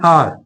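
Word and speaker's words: hour: एन आर, आर H silent है, इसलिए एन का यूज यहाँ हुआ है।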